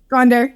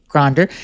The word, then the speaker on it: Gonder: Gonder, just like it's spelled. Gonder.